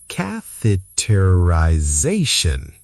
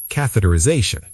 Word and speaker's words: catheterisation: 6 syllables. The I before Z sounds like I. Catheterization. Catheterization. Catheterisation.